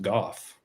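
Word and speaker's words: Gough: Kind of like Van makes me think of like Van Go, but apparently it's pronounced golf.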